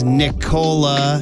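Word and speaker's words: Nikola: starring in that was Nicolette Sheridan which is how I remember how to pronounce Nicola jokic Paulie said he's going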